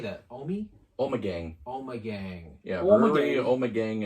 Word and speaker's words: Omegang: Omegang.